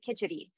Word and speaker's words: kitchari: ways of pronouncing it some people pronounce it kichadi and so uh I